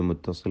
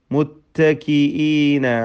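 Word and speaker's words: متكئين: വീണ്ടും ഫബി അയ്യാലി മദ് മുത്തസിൽ വാജിബ്, റാഇ തഫ്ഖീം. മുത്തകിഈന അലാ റഫിൻ, മുത്തകിഈന, മുത്ത പറയരുത്, മുത്തകിഈന. താഇന് ഹംസ്, ഷിദ്ദത്ത്, ഇസ്തിഫാല്, ഇങ്ങനെ പല ഗുണങ്ങളുമുണ്ട്. അതൊക്കെ ശ്രദ്ധിക്കുക. ഖാഫ് ശേഷം വരുന്നു, അതും ഹംസിൻ്റെയും ഷിദ്ദത്തിൻ്റെയും അക്ഷരമാണ്. മുത്തക്കീന, ഹംസ വ്യക്തമാക്കി ഉച്ചരിക്കണം.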